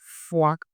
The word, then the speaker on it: foi: We have f and wa. We pronounce as foi, foi.